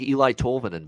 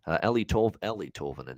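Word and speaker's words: Eeli Tolvanen: It looks like Eli Tolvanen, by the way. Ellie Tolvanen is actually how you say it.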